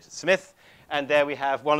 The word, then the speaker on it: Smythe: He spells it Smythe, but he pronounced it Smith.